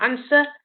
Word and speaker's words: answer: Then you got the W. So answer. We don't go answer and we don't go sword. We go answer and sword.